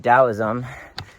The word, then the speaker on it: Taoism: Some might incorrectly pronounce Tao, but Dowoism. T A O S I or T A O I SM. Towism.